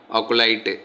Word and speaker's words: acolyte: Hi viewers, இன்றைக்கி நம்ம டே டு day communication இம்ப்ரூவ்மெண்ட்டில் இன்றைக்கான டே வெக்காபுலரி என்ன பார்த்தீங்கன்னா அக்குலைட் அப்படிங்கிற ஒரு வார்த்தை தான். மறுபடியும் சொல்கிறேன், அக்குலைட், ACOLYTE, அக்குலைட் அப்படிங்கிறது தான் அந்த ப்ரொனவுன்ஸ்.